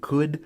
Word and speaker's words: could: will becomes would and what's super weird about these ELLs and could should or would is listen to me saying them you don't pronounce the ELLs and this is the only place in English where that silent L shows up it's so strange ah